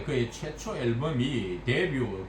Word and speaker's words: debut: 뭐 했을 때 그의 최초 앨범이 데뷔, 불에서 온 말인데 불은 끝에 자음을 발음하지 않잖아요.